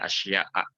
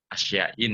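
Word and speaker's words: أشياء: Makanya ya dibacanya asya'a, tidak asyain misalnya.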